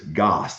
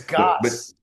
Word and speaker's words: Goss: So I always call him Scout Gas because he's got so much energy, but it's Goss. It's like whatever. It's Goss. Yeah, it's Goss.